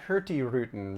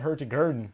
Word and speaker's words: Hurtigruten: here because it's pronounced herty rotin right Aaron so the g is silent okay well I just called it herty g the whole I know